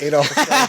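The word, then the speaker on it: Adolph: spelled with a PH, not an F. Really? And it's Adolf, yeah. Holy fuck. Leonard Adolf.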